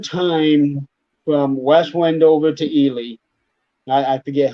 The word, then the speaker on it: Ely: Highway 93 goes south from West Wendover, and it goes to Ely, either Ely or Eli. It's Ely. Jennifer might know the correct pronunciation.